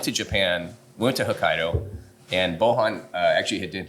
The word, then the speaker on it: Hokkaido: But yeah, the dough is, so Hokkaido, which I get hockey dough, like people mispronounce it all the time. So thank you for pronouncing it correctly. It's pretty phonetic.